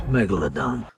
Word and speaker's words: megalodon: of jason statham somehow pronouncing the megalodon as one syllable it's megalodon i didn't know that